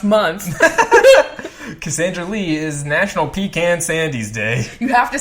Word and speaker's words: Pecan Sandies: Cassandra Lee is National Pecan Sandies Day. You have to say it like that. Pecan Sandies.